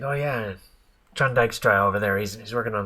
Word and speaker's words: Dykstra: It was like, oh yeah, John Dykstra over there, he's working on the Dykstraflex camera, so they can do multi passes on that. We actually called him John Dykstra, and we thought it was such a cool name like that.